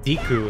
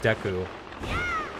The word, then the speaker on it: Deku: Also, when I was younger, I used to say Deku instead of Deku. But after watching My Hero Academia, I kind of learned I've been saying it wrong this whole time.